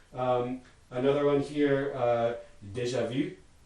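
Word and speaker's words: déjà vu: another one here uh deja vu which means already seen in french and that second word v is a past participle of the verb to see and it has a high front rounded vowel e in it not pronounceable in english and so that's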